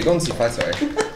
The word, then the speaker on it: 恭喜发财: No, I would say 恭喜发财. But like, if you're white and you mispronounce it, this is also for you.